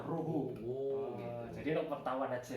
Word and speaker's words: Rojo: Bacanya itu pakai H, Ruhu.